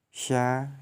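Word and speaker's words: ش: Melafalkan huruf sya keluar dengan menyentuhkan tengah lidah dengan langit-langit. Diucapkan mengalir udaranya dan nafasnya, yakni sya, shi, shu, bash, atau juga shu, shan, shani, shashna.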